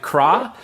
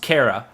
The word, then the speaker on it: Kra: The band whose name reads like Kra is pronounced Kara.